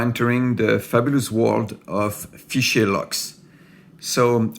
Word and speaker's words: Fichet: Hi, today we are entering the fabulous world of Fichet locks. So I said Fichet and not Fichet, which is the good pronunciation, Fichet in French.